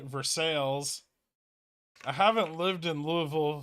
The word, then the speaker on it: Versailles: there's a town named Versailles France has one too although in Kentucky they pronounce it Versailles I haven't lived in